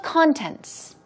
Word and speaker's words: content: the contents of something no stress goes on the first syllable in that case right content but here we're talking about feeling content stress goes on the second syllable it means to be